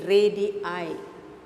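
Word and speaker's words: radii: we see here radius it should be ready i ready i formula for malay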